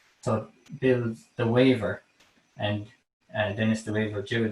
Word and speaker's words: Weaver: So Dennis Murphy's sister, Billy the Waver. The Waver was his family, the Wavers, the Murphys. It's spelled Weavers, Weavers.